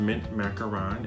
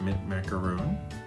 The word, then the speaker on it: macaron: the number below today we're gonna be featuring mint macaron which is the Baker's twine in this set it is called mint macaron and not mint macaron although it does look like a macaron I've